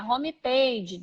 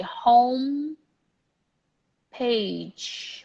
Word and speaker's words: home page: page home page beautiful don't pronounce the e because that's not how you do it letter I icon icon